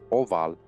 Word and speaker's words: ubhal: This is probable since ubhal, pronounced oval, is virtually oval, or egg-shaped, from Latin ovum, Gaelic